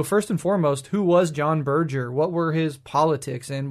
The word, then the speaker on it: John Berger: But today, we are talking about John Berger.